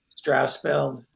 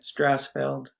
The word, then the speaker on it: Strousfeld: Dave, pronounce your last name for me, Dave. Strousfeld. Strousfeld? Yeah, that's good. You mind, I didn't say it the way you said it. Say it one more time. No, you said it right.